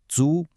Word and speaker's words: 足: And finally, the last character, Jiao, pronounced Zu.